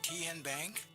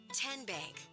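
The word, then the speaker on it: TN Bank: How do you say the name? Ken Bank. Nope. Kin bank. Uh-uh. So, what is it? 10 bank. 10 as in Tennessee.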